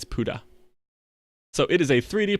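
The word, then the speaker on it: Pode: platformer released this summer 2018 and movin on Buddha and that is how they pronounced it P OD e is how it's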